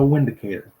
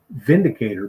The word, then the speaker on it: Vindicator: I call it the windicator and a lot of people have harassed me about that because they said it should be pronounced Vindicator because in Germany they pronounced the W as a v so Volkswagen starts with